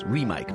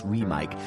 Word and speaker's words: REMIC: I first learned about REMIC microphones, and yes, that's how they're pronounced, REMIC. Most people think it's REMIC, it's REMIC.